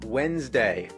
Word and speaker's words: Wednesday: day of the week it's spelled like wedness day but you pronounce it Wednesday what's with the silent